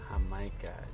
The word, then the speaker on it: jamaica: Jamaica. You know we don't pronounce the J with a J.